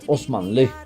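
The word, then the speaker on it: Osmanlı: por el nombre otomano en turco se dice osman ley y es una especie de gentilicio así como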